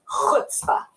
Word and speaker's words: chutzpah: That word, and you pronounce it like this, chutzpah, with a ch.